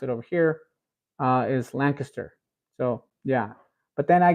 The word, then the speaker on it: Lancaster: talking about that uh I would say Lancaster and I I do recall somebody mentioning in the comments saying oh you're not pronouncing it right um we say Lancaster and I and I you know I go back and forth I say Lancaster and then or Lancaster uh that's the way I used to pronounce it